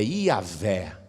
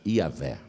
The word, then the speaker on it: Iavé: Por isso que a pronúncia correta dessas 4 letras se perdeu. Ninguém sabe direito como se fala o nome de Deus. O mais aproximado é Iavé. O mais aproximado, Iavé.